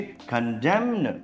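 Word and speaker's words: condemn: इधर देखिए, कंडेम्न, यहां पर भी उच्चारण गलत है। कंडेम एन का यूज नहीं करते, लेकिन कंडेमनेशन बोलने में एन का यूज आ जाता है, यानी धिक्कारना।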